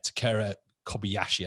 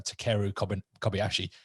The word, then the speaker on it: Takeru Kobayashi: kind of drew my attention to was uh takera kobayashi i think i've pronounced that uh takeru kobayashi yeah we've got in the industry people just